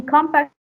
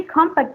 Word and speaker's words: compact: For example, we have compact. In compact, you can observe that the stress isn't on the second syllable. But when we say compact, the stress changes and it goes to the first syllable.